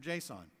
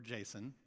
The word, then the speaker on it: JSON: Instead, all communication to and from the note card happens through JSON, or JSON. I'll be inclusive of both pronunciations here.